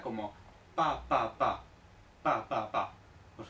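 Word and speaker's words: 爸爸: Por ejemplo, papá, en chino se dice papa, papa, no baba, baba no, papa, papa.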